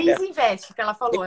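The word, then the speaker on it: Easynvest: um investimento na, não sei se eu vou pronunciar É certo. Isinvest que ela falou, é uma corretora. É isso? Pronto. Isso, Isinvest.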